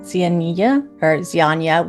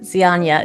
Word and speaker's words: Zianya: I'm playing Zianya, which is actually the correct pronunciation, but we get a lot of names, but Zianya is the correct.